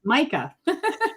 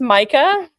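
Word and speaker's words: Mika: The other dog is spelled M I K A. So, you would be Ma and Ma, but it's not. This is Micah. Yeah, this is Micah.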